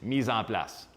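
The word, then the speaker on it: mise en place: everything has a place in French it is Misan plus so Misan plus is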